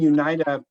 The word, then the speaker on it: Unita: a it's a rendition the name UNITA or you need to have there's different ways to pronounce it but it is basically unite right and I think